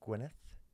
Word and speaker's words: Gwyneth: How's my Welsh pronunciation? That was beautiful. Gwyneth. Nailed it. Gwyneth. Gwyneth. It is always a very like a It's a sound, isn't yeah. it? English people go Gwyneth.